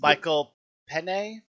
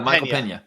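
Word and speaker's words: Michael Peña: He goes and does Michael Pen. I could be pronouncing. Yeah. Michael Pena.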